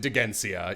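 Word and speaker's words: Dheginsea: back someone asks so is it degensei or degencia they pronounce it degencia yam is just refusing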